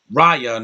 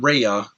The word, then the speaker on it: Raya: it and that is raya not reya because they say they saying it wrong raya and the last